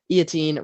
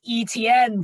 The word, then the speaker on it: Etienne: it pick number 25 the jaguars took travis eoteen running back from clemson oh please it's pronounced etn bro i don't care i've pronounced it like